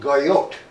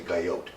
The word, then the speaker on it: Guyot: Princeton geologist named Arnold Guyot I can't pronounce the names very well but it's geo GUI ot so I say Guyot he never heard that